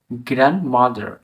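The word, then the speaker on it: grandmother: ডি এস ও ME handsome handsome হবে এরকমভাবে গ্র্যান্ড মাদার জি আর এন ডি এম ও টি এইচই আর গ্র্যান্ড মাদার এই উচ্চারণটাকে কেউ কেউ উচ্চারণ করে গ্র্যান্ড মাদার গ্র্যান্ড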